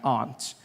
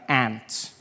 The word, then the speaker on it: aunt: For instance, I pronounce the opposites of uncle as aunt. I say my aunt. Out here, you say my aunt, which to me is an insect, which made me look like an ass when my friend told me his aunt died.